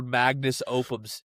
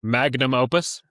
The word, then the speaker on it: magnum opus: this is like her Magnus Opum Mag Magnus Opum series. Magnum Opus. We'll edit that out. No, don't. I deserve the shape. Magnum opus. Am I saying it right now? Yeah. Okay, it's Magnum Opus.